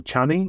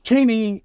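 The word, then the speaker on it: Chani: Cheney or Chaney, I don't know which one. Most people are using both pronunciations, but let's just go with Cheney, because it sounds like Dick Cheney, and, there was a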